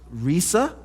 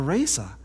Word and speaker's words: Rhesa: It could be pronounced Risa or Rhesa.